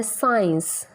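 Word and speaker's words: science: C की sound नहीं आती, S की साउंड आती है, साइंस, सेप्टर.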